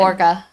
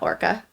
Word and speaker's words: Orga: Orga. No, not Orca. Orga.